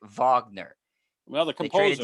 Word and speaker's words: Wagner: It's not Wagner, W. You pronounce it with a V. It's spelled like the Wagner, but you composer. pronounce it like Wagner.